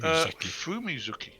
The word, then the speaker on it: Fumizuki: So you are now into Fumizuki. Sorry, Fumizuki. Is it Fumizuki or Fumizaki? How do you spell that? Zuki. Fumizuki. Fumizuki. Fumi-ZUKI.